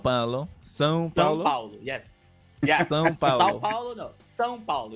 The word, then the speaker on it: São Paulo: But the state is São Paulo. São Paulo. São Paulo. São Paulo. Yes. Yeah. São Paulo.